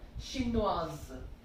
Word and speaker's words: Chinoise: S will be pronounced there, Chinoise, with an E.